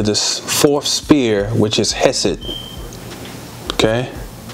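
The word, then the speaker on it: Chesed: as it is represented in the sphere of hesset if you look at the word hesit it is c-h-e-s-e-d just take the root c-h-e-s although we pronounce it hesit it's still chess okay the chest of osiris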